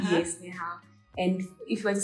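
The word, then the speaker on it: 你好: If you want to say hello, you say ni hao. Ni hao. Yes, ni hao.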